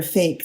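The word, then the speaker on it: PHEIC: fairly likely i mean in order to be declared a fake that's the way it's pronounced it's an unfortunate acronym public health emergency of international concern um you know it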